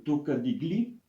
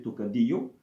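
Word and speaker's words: Tocadiglio: règle je cours le tocadi gli oui ce sera au prix un peu sur sur les Italiens et tout cas des glio mais sauf que ça doit se prononcer tocadio cette version italienne du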